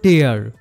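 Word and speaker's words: tear: এক্ষেত্রে প্রথম সেন্টেন্সে টি ই এ আর হলো টেয়ার কারণ এখানে এটার অর্থ ছিড়ে ফেলা আর দ্বিতীয়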